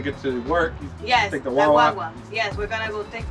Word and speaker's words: guagua: So pronunciation, it's the same. Say Wawa, but depending on who you're talking to, it could mean get on the bus, yeah.